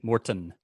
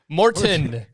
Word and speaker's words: Morton: As Frank would say, Morton. Morton. You got to pronounce the T, guys.